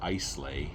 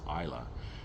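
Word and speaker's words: Islay: um uh on Isa and um it's not pronounced iel it's Isa and um Lefroy itself it was um well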